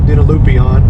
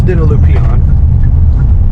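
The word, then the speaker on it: Dinalupihan: pronounced it wrong earlier i tend to call it dinoloopion but it's dinolupian this is part of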